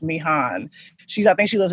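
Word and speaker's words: Mihan: am and then the the name m-i-h-a-n i think it's pronounced me han she's i think she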